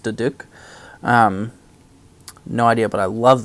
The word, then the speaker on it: duduk: Apparently, that instrument, the like flute-looking thing, is called, I'm going to say this wrong, but it looks like it would be pronounced Duduk.